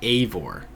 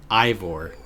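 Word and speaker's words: Eivor: I'm gonna cut you off real quick it's pronounced aore what did I say ivore I do keep saying Ivor I don't know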